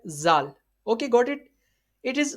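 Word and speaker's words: ذال: Zal is pronounced from the tip of tongue, touching the inner edge of two front teeth.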